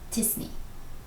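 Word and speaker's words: t-SNE: pronounce this acronym and the majority opinion is to pronounce it like a word disney the math behind this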